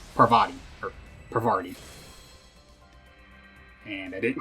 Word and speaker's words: Parvati: And so I was, when did I realize I was pronouncing it wrong? It was during those rolls, for sure. I remember I looked at it and I was like, wait a freaking minute. There's no R there.